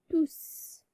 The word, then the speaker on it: tous: Le S final s'entend à l'oral, donc on prononce S. On prononce S, donc on dit tous.